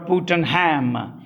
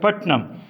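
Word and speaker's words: Puttenham: p u t p-u-t-e-n-h-a-m as if it were putin ham but they don't pronounce it as putin ham they pronounce it as putnam he in the 16th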